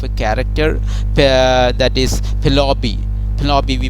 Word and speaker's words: Penelope: Penelope we pronounce it, and so she is the faithful wife.